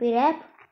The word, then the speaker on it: wrap: डब्ल्यू भी इसमें silent रहते हैं, WRAP रैप।